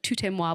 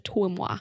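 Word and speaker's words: toi et moi: And I knew I wanted I always say it wrong, but it's I always call it a tout-et-moi, but it's not. It's a toi-moi, which just means it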